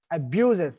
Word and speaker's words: abuses: Till we say abuses, the stress is still there on ba.